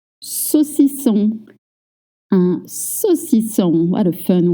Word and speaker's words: saucisson: AU makes the sound O, right? Again, in French, we don't have short or long. Everything is short. So when you see AU, you might be tempted to say so. No, keep it short. O. So, and then double S makes the sound S, like in 7.